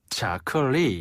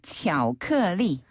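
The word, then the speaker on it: 巧克力: 영어식 발음을 거의 그대로 가져와서 巧克力 라고 해요. 차클리. 한 번 더. 巧克力.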